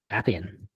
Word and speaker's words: Appian: Is it Appian? Yeah, Appian. Yeah. And yeah, so for people who don't know, what are you going to be doing as an associate consultant at Appian?